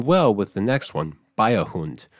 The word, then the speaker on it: Beiherhund: with the next one biohunt which it's spelled b-e-i-h-e-r-h-u-n-d however it sounds like bayer b-a-y-e hunt bavarian dog remember how i